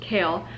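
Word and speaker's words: Chaol: And YouTube humbled me because I realized that it's pronounced kale, but I was kind of shocked too because I'm like, that is such interesting spelling for that name.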